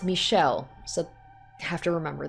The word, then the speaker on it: Michel: hey that's the guy um okay it's not mikel mikhail or however i said it before i'm just